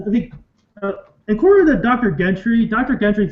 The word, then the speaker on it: Gentry: Is it Gentry or Gentry? I think it's Gentry, but okay, like a J. Okay, I thought it was a G. Like it is a G, but I think it's pronounced like a J.